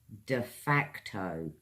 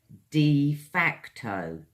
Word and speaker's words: de facto: very good next word de facto three syllables again guys de facto de fact what this means is